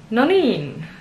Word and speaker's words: noniin: The emphasis is on the second syllable. Noniin.